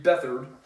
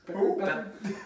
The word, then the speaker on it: Beathard: Beathard at Beck- quarterback after Garoppolo got hurt. Beckard? Beathard? That was Beckard. Well, it's spelled B-E-A-T-H-A-R-D.